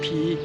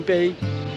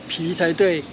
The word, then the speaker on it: 埤: The word "埤" is indeed read "pi", Instead of pronouncing "bei" I guess he may